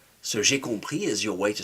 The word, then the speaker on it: compris: And this time it takes, but the s is silent. So compris is your way to say, "Oh, I understood."